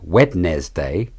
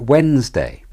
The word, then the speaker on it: Wednesday: the word Wednesday it isn't said wetness day but Wednesday vegetable is another word